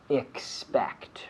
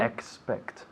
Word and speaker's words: expect: so we have to be careful with the pronunciation expect right can you say that again expect expect expect expect right so i have to